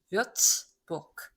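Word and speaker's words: Würzburg: 그가 있으니까 르라고 읽지 않고 크라고 읽는 거죠. 뷰츠부르크.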